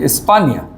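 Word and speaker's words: España: স্পানিয়োল এই দেখেন এনিয়ে হ্যাঁ এনি এর কারণে উচ্চারণটা কিভাবে হচ্ছে স্পানিয়োল আর যাব কোন দেশে স্পানিয়া এই যে স্পানিয়া স্পেইন ঠিক আছে না স্পেইন তাহলে এটা হলো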